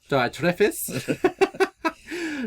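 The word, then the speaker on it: Diotrephes: split there's this guide diode tree fees or Diet trophies or if you want to try and pronounce it correctly diatrifice depends on whatever your pronunciation you want to go through Greek but that's there and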